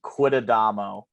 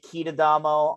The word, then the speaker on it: Quitadamo: last name quidadamo um it's exactly it's spelled exactly how it sounds there are no frills no no fancy uh accents to it anything like that um and I'd get like kitadamo all the time with automo but it's